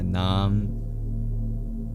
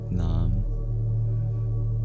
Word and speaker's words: naam: Learning Hindi, they use a lot of Sanskrit words like nam. Nam is just nama but with the schwah deleted.